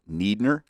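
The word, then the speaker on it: Niedner: Well, his name is often spelled with those two vowels switched around, and in typical German pronunciation, you're going to pronounce the second one. So I believe he wanted it pronounced Neidner because it probably looked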